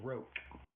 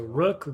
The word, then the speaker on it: Ro: Um his and his name is Ro. That is not Rook. That is Ro. That's how you pronounce it. So Rook Roku.